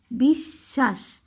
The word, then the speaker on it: বিশ্বাস: থাকে ব সংযুক্ত তখন ওগুলোর উচ্চারণটা একটু ধাক্কা দিয়ে বলতে হয় যেমন এখানে জ্বলছে এখানে কিন্তু এটা প্রথমে আছে আর এখানে কিন্তু মাঝখানে আছে তার কারণে এইটা বিশ্বাস একটু ধাক্কা দিয়ে বিষ বয়স বি তালবস বিষ তারপর ব ধাক্কাতে বিশ্বাস আর যদি হচ্ছে শুধু